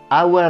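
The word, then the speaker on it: あわれ: Ouais, non, mais ça se prononce aware, hein, pas aware, rien à voir, non.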